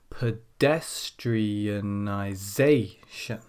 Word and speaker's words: pedestrianisation: So, in the case of this word here, pedestrianisation, we have 2 syllables stressed, and that's number 2 and number 6. Pedestrianisation.